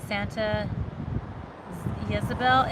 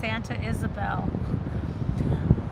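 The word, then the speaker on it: Santa Ysabel: Julian pie company in Santa Yabel Isabelle. I always say it wrong. One of you guys told me it's not it's not Yabel, it's Santa Isabelle.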